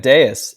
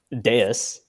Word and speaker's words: Devs: what do you think I think everyone's pronouncing it wrong and I think it's actually the V is a you and I think it's I don't want to mispronounce this but Deus and I think yeah